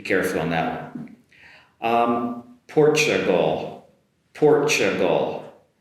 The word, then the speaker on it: Portugal: Um Portugal Portugal. The "t" is comes across as a “ch” sound.